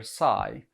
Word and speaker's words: psi: as backslash psi and pronounced like the greek letter psi is an open source